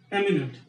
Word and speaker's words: eminent: Here we have eminent means in Hindi we will pronounce this word like this, eminent. Here this E will be pronounced as A, but here you will see the pronunciation changing into imminent.